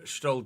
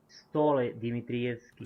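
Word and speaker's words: Stole Dimitrievski: Stole Dmitrievski. Stole. Stole Dmitrievski. Stole. Alright, I have been pronouncing it incorrectly then.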